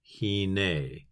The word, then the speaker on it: hine: So please just say after me, hine. Again, hine. Once more, hine.